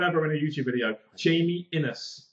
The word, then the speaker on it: Innes: Pronounce his name right for like the first time ever in a YouTube video. Jamie Innes. Not Jamie Ines.